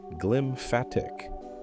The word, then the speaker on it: glymphatic: They called it the glymphatic system, pronounced glymphatic, a word stitched together from glia, the support cells of the brain, and lymphatic, the fluid waste network that serves the rest of the body.